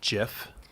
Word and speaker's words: Jif: eight but I'm gonna say peanut butter it's pronounced jiff creamier crunchy it usually is is creamy but